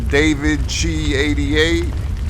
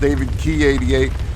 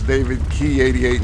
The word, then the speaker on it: DavidChi88: It's actually pronounced David Key 88. The CH is pronounced like a K in Italian. My last name is Italian, so that's why that's David Key 88 instead of David Chi 88 the way it's spelled.